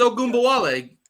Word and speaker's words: Ogunbowale: It's Ogunbowale.